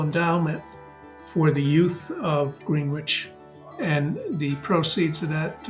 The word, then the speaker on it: Greenwich: song um you know it's green witch not grenage say it phonetically you know everybody knows